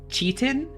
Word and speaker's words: chitin: Chitin. It's still chitin. Chitin. Chitin. Chitin. Yeah, chitin. Wait, where? Hold on. It has to be a regional thing. Have you heard other people pronounce it like cheatin?